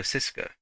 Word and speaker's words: Žižka: Right, Jan Žižka, one of the most famous and controversial figures in Czech history.